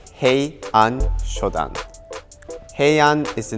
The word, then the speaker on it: Heian Shodan: The pronunciation of this kata is he shoddan.